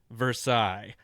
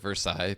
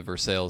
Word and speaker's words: Versailles: my very favorite was the very confident, it's pronounced Versailles. And, that's classic. Yeah, with like 10 likes on it, so that was hilarious. No, I mean, it's true that in France they pronounce it Versailles, but if you speak with the people at